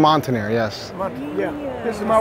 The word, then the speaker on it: Montaner: Montaner, yes.